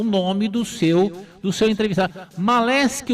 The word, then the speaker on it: Maleski: Como é que é a pronúncia correta do seu sobrenome? É Maleski.